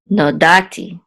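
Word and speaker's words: נודעתי: It says Lo Nodati Lahem. So actually the accent is on da, so it's Nodati.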